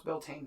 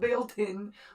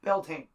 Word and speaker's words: Beltane: it's all right although he doesn't know how to pronounce beltane that kind of bugs me not bailed in or whatever he said beltane anyways but he brought